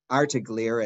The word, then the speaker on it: Artigliere: And we will also have the honor of having Gale and Adam Artigliere, or Artigliere as they pronounce it, the daughter and